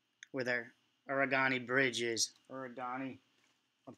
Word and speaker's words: Arrigoni: Arrigoni. I'm pronouncing it correctly.